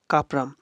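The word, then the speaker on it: Cuprum: আম এখানে আমাদের উচ্চারণ হচ্ছে।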